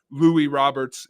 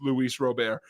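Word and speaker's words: Luis Robert: center fielder you would swear his name is Lou Roberts it's Luis Rober so you know that it's a nice that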